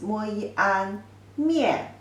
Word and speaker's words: 面: The simplified version written like this, and the pronunciation is 摸一安面, fourth tone means face.